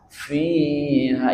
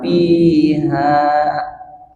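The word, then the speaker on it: فيها: Azwajum huruf fa. F fa fiha. Jangan piha kedengarannya sama.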